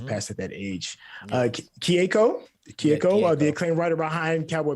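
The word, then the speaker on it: Keiko: forgive me for this mispronunciation if I am mispronouncing. It's Kiku Nobumoto. Kieko?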